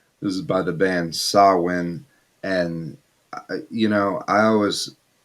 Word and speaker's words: Samhain: people that pronounce it samhain but uh this is how danzig pronounced it and i actually looked did some research here and saw when is how um that